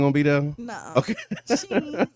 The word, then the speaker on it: Shein: used by Temu and how you say it, Shein or Shine? I always Shine. Sheen. It's Sheen. Sheen.